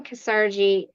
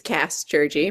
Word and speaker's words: Kassgerji: so let's welcome cergy to the show did I say that correctly it's a it's cast jurgy but it's okay I'm